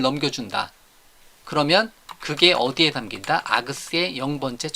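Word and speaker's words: args: 제가 아그스, 아규먼트들, 아그스라고 발음하는데요.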